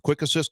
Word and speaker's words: Quick Asyst: The best way to list them is with Quick Assist. Go download the app. It's Quick ASYST. It's spelled a little differently. ASYST. Quick Assist.